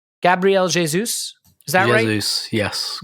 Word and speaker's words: Gabriel Jesus: people want me to say his name right gabrielle jesus is that yes gabrielle jesus yes gabrielle jesus comes in and he plays